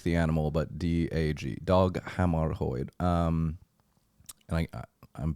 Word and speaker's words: Hammarskjöld: Dag Hammarskjöld. It's hard to pronounce.